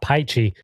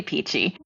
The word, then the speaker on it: Pichi: says it's qualia saying never knew it's pronounced peachy and not pichy am I mispronouncing this no it's totally peachy okay good I think